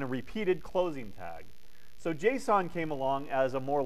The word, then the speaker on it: JSON: definitely look at this next semester well you pronounce that JSON and it's from Java it stands for JavaScript